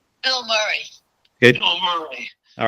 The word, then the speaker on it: Murray: That's not right. Bill Murray. Yeah, no A. Bill Murray. Right. Look how he spells his name. Yeah, but that's how you say it.